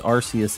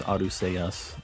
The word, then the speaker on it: Arceus: you print pronounce something because Arceus is the same thing it's aru sayas so I don't know people get mad because they say Arceus and they changed it in English because of you know British English I guess I see you